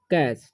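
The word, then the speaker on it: catch: उरण हो जाएगा च यानी कि टी साइलेंट है तो इसे पढ़ते हैं हम लोग कैच ठीक है अब ड्रिंक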